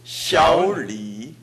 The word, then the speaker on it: 小李: 좋습니다선생님小王한번더해주십시오 小王小王끝에 ing 가정확히올라가고있습니다그다음합시다小李小李小李小李 발음을들어보십시오 小李小李 잘들어보시면小할때오가완벽하게올라가있다는걸알수있습니다다시합시다난다 난다 난 난 여기에맞춥니다小小小小小李小李小李小李李그것을살려주면됩니다그래서이제합시다小李小李 해보세요 小李小아니야小小小小 좋습니다해보세요 小李